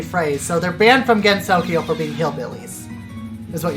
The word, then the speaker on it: Gensokyo: supposed to pronounce it gensokyo gensokyo yes it's just because it's not a heart there's not a hard G sound Jenny or I guess